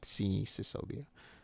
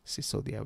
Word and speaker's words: Singodia: Most people don't or can't say or my full name is actually Singodia, not Singh Sicodia, which has been the story of my life where people always mispronounce and think I'm uh Punjabi, but I'm not.